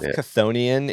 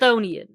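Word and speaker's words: Chthonian: And you don't pronounce the C, by the way.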